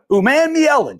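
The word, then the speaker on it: Umanmielen: Uman-Mi-Ellen. Jake's my pronunciation guy.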